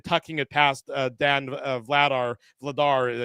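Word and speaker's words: Vladař: it past Dan vladar vladar I keep mispronouncing his name I put the wrong emphasis on the wrong salel just think Dar Vader yeah you know exactly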